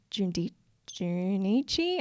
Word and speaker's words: Junichi: With this guy called Junichi, I think is how you say it.